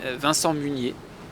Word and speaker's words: Vincent Munier: my name is a van song eunyi with a French pronunciation of instant muniya and so I'm French